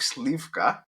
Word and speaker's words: Slivka: His name is Slivka, right? Did I say it right? Yep, you Slivka? said it right.